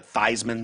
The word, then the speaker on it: Theismann: like um you know Joe Theismann changing his name to Theismann because it rhymes with Heisman yeah you know in